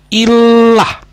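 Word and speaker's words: Ilah: writing nah diih the ini tulisannya bacanya Illah ya jadi bukan ini kalau mau God dalam bahasa Arab Illah bukan Allah Illah ya itu langsung aja ke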